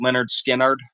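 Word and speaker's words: Lynyrd Skynyrd: Allan Collins um you look their first album pronounced Leonard skinnard and you'll immediately see like just with songs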